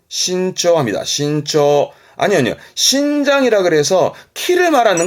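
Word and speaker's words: 伸長: 발음은 신초합니다. 신초.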